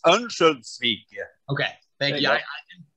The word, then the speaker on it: Örnsköldsvik: I can pronounce it for you. In English, it's Örnsköldsvik, and yeah. In Swedish, it's Örnsköldsvik.